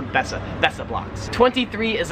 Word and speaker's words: Besser: they are besser block it's spelled better but they kind of pronounce the bessa that's the blocks 23